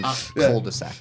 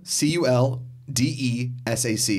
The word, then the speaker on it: cul-de-sac: Because the L is silent in cul-de-sac. Yeah. No, wait, I'm asking because I don't want another St. Louis situation. It's C-U-L-D-E-S-A-C.